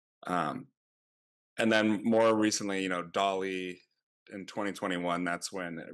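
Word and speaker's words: DALL-E: Um, and then more recently, Dolly in 2021, that's when it really took off that you could generate these pretty realistic images based on like a text model.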